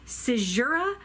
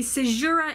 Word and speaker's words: caesura: more for and we're this time it's Latin and it is I believe pronounced caesura but I learned how